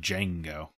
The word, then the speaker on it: Django: as a kid named django django with a DES yes D silent I would assume the D is silent I just remember when